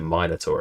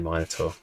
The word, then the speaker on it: Minotaur: survive a fourth and you pronounce it minor tour as well minotaur definitely minotaur you sit down to observe